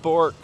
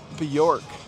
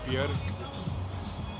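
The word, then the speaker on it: Björk: Not Bork. Bjork. It actually rhymes with jerk. So it's more like Bjork.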